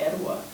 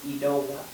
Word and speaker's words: Etowah: But if you think about Etowah, and how we say it in the Muscogee language is Etowah.